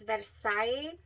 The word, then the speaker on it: Versailles: not as bready um or cake like as Versailles that is how you say it that one